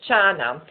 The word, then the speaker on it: jhana: In Pali, dhyana is pronounced as jhana.